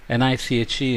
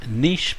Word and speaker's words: niche: NICHE is pronounced niche by some and niche by some, but let's just use niche.